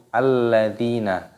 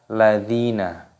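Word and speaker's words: الَّذِينَ: diganti dengan harokat fathah jadi cara membacanya yaitu alladina bukan langsung dibaca ladzina tetapi Hai dikasih harokat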